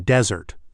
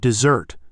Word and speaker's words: dessert: It was like I was saying desert, the dry place, instead of dessert, the sweet treat. The waiter just kept looking at me blankly. Even though I was pointing at the menu, it was the stress that threw him off.